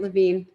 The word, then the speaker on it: Levine: And, I forgot to ask you, do you pronounce your name Levine or Levine? You said it right, Levine.